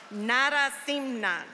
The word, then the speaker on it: Narasimhan: Narasimhan.